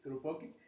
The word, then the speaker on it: Kropotkin: Kropotkin, perdón, ¿cómo se pronuncia? Kropotkin.